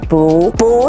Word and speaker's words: 不: Here are some examples of changing the fourth tone, 不 to the second tone, 不是 is not.